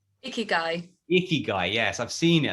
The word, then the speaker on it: ikigai: And is it Ikagi? How do you pronounce it? Ikigai.